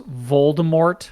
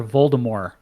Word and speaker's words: Voldemort: I feel like there's I've heard audio recordings that pronounce Voldemort correctly uh like they initially pronounced it with the t is soft like the first couple books you'll hear Voldemort rather than Voldemort yeah if you pay